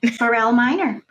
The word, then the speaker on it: Borell Miner: Borell Miner.